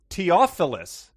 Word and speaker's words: Theophilus: first model and episode mike's insists theo theophilus be pronounced teophilus what's more he cites the biblical usage theophilus being the addressee of luke and axe as his evidence and then here here's